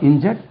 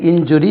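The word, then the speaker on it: injury: how many persons where இன்ஜர்ட் three persons where இன்ஜர்ட் how many person God இன்ஜரி three persons God இன்ஜரி அது இன்சுரி சொல்லக்கூடாது இன்ஜரி தென் இன்சைசர் cis o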